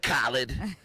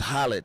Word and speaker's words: Khaled: That's like, you know, we say DJ Khaled. And, you know, over in the Middle East, it's just Khaled.